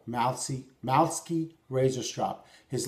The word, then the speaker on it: Malewski: that's what it's called mousey mouths skeet razor strop his last name is spelled mal e WS ki mouse key I believe the W is silent this particular strap which